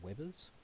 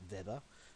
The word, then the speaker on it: Weber: Firstly, the phi is just flux in Webers, or properly pronounced Weber, because it's German, but we're going to say Weber.